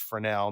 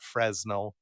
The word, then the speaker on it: Fresnel: Because I love the fact that we're going away from Fresnel, and yes, it's pronounced Fresnel, not Fresnel.